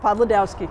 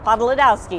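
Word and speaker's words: Podlodowski: Podolowski. Podolowski.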